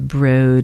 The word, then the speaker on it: Broad: Anyway, this study was also partnered with Harvard and the they're calling the Broad Institute. I'm sorry, it's spelled broad.